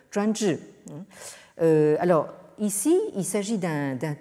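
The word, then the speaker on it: 专制: cette traduction par sensei, en prononciation chinoise, Zhuanzhi.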